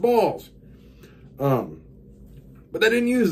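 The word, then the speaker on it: Baals: a a LS but it's pronounced balls um but they didn't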